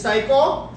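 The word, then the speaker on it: 最高: lot, the most, is psycho. The easiest way to know how to pronounce it correctly is just like psycho in English, you know? But psycho, which means the best.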